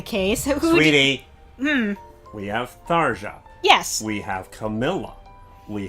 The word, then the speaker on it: Tharja: I know that a lot of Western fans say Tharja, but in Japanese it's Saria, so I'm just like, I don't fucking know.